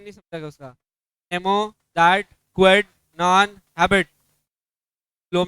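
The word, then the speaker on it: nemo dat quod non habet: तुमको अभी तक प्रोनाउंसिएशन नहीं समझा क्या उसका? नेमो, दैट, क्वेड, नॉन, हैबिट।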